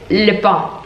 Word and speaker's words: Lupin: Y luego, como series, os recomiendo la serie de Lupin. Bueno, se pronuncia así, pero se lee Lupin.